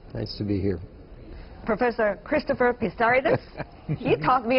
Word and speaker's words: Christopher Pissarides: Professor Christopher Pissarides, he taught me how to pronounce his name, for the year 2010, the latest among you all.